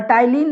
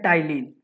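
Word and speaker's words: ptyalin: टाइलिन भी बोलते हैं, पर टाइलिन नहीं बोलिएगा, इसे हम लोग प्रोनाउंसिएशन करते हैं टाइलिन।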